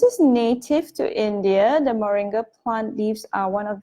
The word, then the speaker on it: moringa: hearts let's talk about this Moringa or some pronounce it as merengue merengue marine God well just gonna call it Moringa it's balances hormones it's